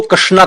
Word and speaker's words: कृष्ण: आप समझने का प्रयास करें, जो अक्षर है, जो नाम है, वो है कृष्ण। सही तरीके से शुद्ध उच्चारण कृष्ण का नाम भी नहीं बोल पाते।